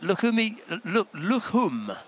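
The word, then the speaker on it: Lukhumi: Right, Lukhum. They don't pronounce the I, apparently. Georgie, our stadium announcer, was telling us.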